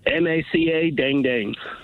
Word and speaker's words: Macadangdang: How do you spell it? All right. M A C A Dangdang.